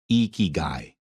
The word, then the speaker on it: ikigai: a bright grin and start with the sound e as in we or free the Japanese pronounce the letter i as e since there are three I's in igai then to pronounce the word properly you say eeky guy with a smile the second thing you